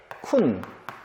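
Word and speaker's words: คุณ: 그래서 발음은 쿤, 당신, 첩, 좋아하다, 매우, 고양이.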